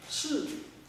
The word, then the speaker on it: qi: That qi. Qi pronunciation. Qi. But proper pronunciation should be shi.